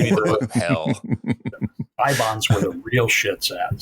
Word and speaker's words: Eibon: That's a famous fictional book, and they pronounce it Ibon in the movie. I always thought it was Ibon, but it's didn't quite